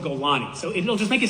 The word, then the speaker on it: Golani: There's no Golan brigade. It's called Golani.